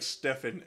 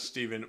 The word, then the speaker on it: Stefan: that does level time my name is pronounced like Stefan and not Steven my bad Stefan thanks